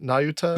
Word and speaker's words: Nayuta: Is that how you pronounce it? Nayuta? Yes.